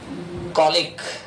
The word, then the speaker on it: colleague: कॉलिक, COLLEAGUE, COLLEAGUE, कॉलिक। हम थोड़ा सा प्रोनाउंसिएशन डिफरेंस कर देते हैं इसका, इसको कलीग बोल देते हैं। प्रॉपर प्रोनाउंसिएशन स्केल होता है कॉलिक।